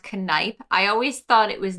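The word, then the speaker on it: Kneipp: up and it says for german it is pronounced canipe i always thought it was nape so i think i've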